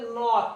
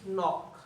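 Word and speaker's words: knock: এই দুইটা শব্দ আছে এখানে কিন্তু উচ্চারণ হবে নক কে উচ্চারণ হবে না এই কারণে হইছে কি নক আবার নাইট এই যে কে উচ্চারিত হয় নাই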